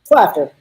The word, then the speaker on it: Klafter: Am I pronouncing that right? Klafter.